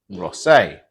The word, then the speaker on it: Rosset: with the silent T, a bit like my name, Rosset, with the silent T.